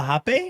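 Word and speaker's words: rapé: The R is an H sound in those Right. countries. Mm-hmm, Hape.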